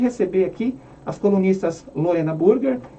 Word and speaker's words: Burger: Apesar de escrever Burger, é Burger que se pronuncia, né, no alemão.